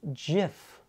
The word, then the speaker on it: GIF: the new york times it's a soft g pronounced jiff end of story i'm